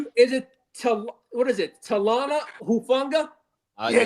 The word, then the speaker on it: Talanoa Hufanga: Talana Hufanga? We needed crickets right there. I'll get right on it. Did I say that right? Is it what is it? Talana Hufanga? Yeah, Talanoa Hufanga.